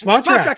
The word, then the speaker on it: Spotrac: And I am joined now by our good friend, Keith Smith of Spotrac. I always mess up the pronunciation. You got it. Spotrac.